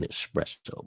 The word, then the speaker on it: espresso: I like that yeah there's no X in espresso by the way but I like that